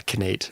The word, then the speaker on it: Knate: which nate with Anna hey Nate with the case silent K yeah connait if you want to call me that that's okay too or if you ever